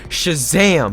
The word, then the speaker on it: Shazam: So I was lazy, I did not actually want to pronounce the extra H and give an energy in that name, but it's a really cool name because it's actually pronounced Shazam. You gotta like put energy in that word.